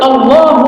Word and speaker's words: Allah: Boleh konsentrasi, tapi jangan di A dipanjangkan. Nah, di mana dipanjangkan? Di lam. Allah.